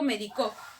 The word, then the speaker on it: médico: Ahora, si yo digo médico, medico, medicó, ¿tienen el mismo significado? No, cambia según el acento.